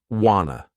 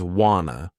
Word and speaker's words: wanna: Some people pronounce it wanna, others wanna, with more of an O sound.